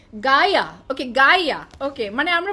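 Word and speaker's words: Gaia: Okay this is গায়া, মানে কি আজব, জি এ আই এ, how would you pronounce G এ আই এ, গায়া।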